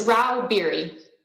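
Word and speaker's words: Rauh-Bieri: how do you say your name ma'am it's rao beary thank you uh miss stacy stags literal lobbyist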